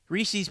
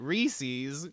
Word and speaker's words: Reese's: would be Reeses right which rhymes with pieces as it's spelled the normal word you think that they called it Reese's Pieces well I guess